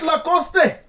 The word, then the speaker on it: Lacoste: image let's find out lacoste it's a clothing brand okay you agree it is true is it lacoste i want to assume that's the correct pronunciation yes it is a hundred points you